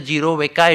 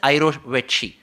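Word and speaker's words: jirovecii: It is not pronounced as Giro Veka, it is pronounced as Irovetchi.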